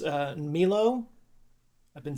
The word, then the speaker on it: Milo: uh who by the way his name is actually pronounced uh Milo.